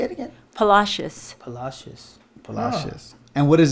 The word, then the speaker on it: Palacios: Palacios.